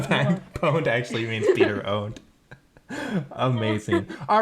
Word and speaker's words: pwned: You have to pronounce it owned.